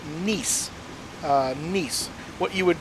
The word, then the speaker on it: Nice: Nie. Um, kind of like niece and a nephew.